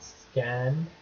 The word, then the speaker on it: Scann3d: This is a quick look at a mobile app called Scan. I suppose that's how you pronounce it. The E is a 3, just to highlight the fact that it's a 3D modeling app.